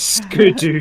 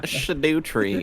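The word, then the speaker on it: Scadutree: them out of nothing it's shut tree not SC tree according to Emperor it's um actually pronounced it is SC sh it's SC it's sco tree it's not shadoo tree it's oh my gosh honey it is a sco tree you have played um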